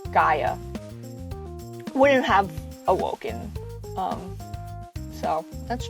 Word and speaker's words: Gaia: The audiobooks pronounce it Gia, so that's how I've been saying it, but I think it's Gaia.